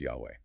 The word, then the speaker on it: Yahweh: The English translation Lord always in all caps in our texts renders the divine name YH HW often pronounced Yahweh.